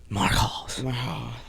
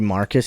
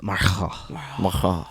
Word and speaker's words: Marcus: Marcos. That's how he says you have to pronounce it. If you say Aubrey Marcus, he says no, it's Marcos.